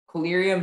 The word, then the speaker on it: collyrium: Collyrium is the only pronunciation.